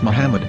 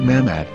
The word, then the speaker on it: Muhammad: According to Ben Yehuda's Hebrew English Dictionary, it is correctly pronounced as Muhammad, not Mahmad.